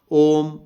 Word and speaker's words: ओम: तो निकल जाएगा नहीं ओम को जो उच्चारण करना है उसका भी तरीका होगा ऐसा नहीं करना ओम अम अम अम जो म है उसका छोटा नहीं करना बराबर तीनों को एक ही ओम ओम ओम इसी क्रम